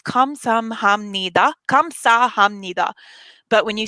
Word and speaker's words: 감사합니다: If you can say these words like a roller coaster, you go up the roller coaster and then back down. So 감사합니다 is how the pronunciation would go.